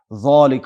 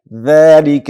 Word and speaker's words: ذلك: ذالک ونه وایو ذالک بلکې ذلك باریک.